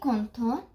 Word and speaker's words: content: I did not pronounce the word with the T because there is no vowel or there is no E.